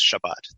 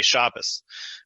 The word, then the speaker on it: Shabbos: in a Hasidic community nobody says Shabbat they say Shabbos which notice they shift both that shifts the T sound to an s and it shifts the syllable emphasis to the first syllable and it sounds more like German it sounds more like